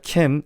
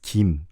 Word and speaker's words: Kim: Instead of Kim, it's Kim.